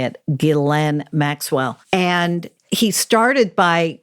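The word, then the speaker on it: Ghislaine: epstein and glenn that's how you say it glenn maxwell and he started by researching a book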